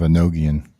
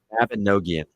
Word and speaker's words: Mabinogion: Mabinogion. Mabinogion.